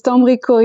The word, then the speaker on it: Dambricourt: You did it perfect, Natalie. It's Dambricourt. It's a very French name from north of France.